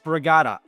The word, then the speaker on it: Sprygada: So it is pronounced spraata and uh now it's not Italian though. See that's the thing everyone thinks it's Italian. It's actually it's a Polish last name and it's changed spelling.